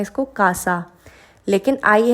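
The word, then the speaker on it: casa: रहे हैं जैसे कि हम बोलते हैं इसको कासा लेकिन आई है यहां पे तो हम इसको बोलेंगे सीएन क्योंकि हम स प्रोनाउंस करेंगे इसको हम बोलेंगे कोमो क्योंकि ओ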